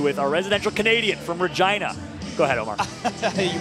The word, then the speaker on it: Regina: He's got an interview with our residential Canadian from Regina. Go ahead, Omar. You pronounced it great, and Drew will be happy to hear that. They said Regina the right way for you.